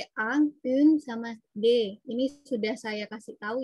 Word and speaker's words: des: Des ya, kalau bahasa Indonesia yang bacanya des. Karena ini buku, bukunya banyak ya. Ingat-ingat lagi kalau plural itu biasanya ada s di belakang, berarti dia pakainya des. Des, kayak gitu. Dia bacanya de.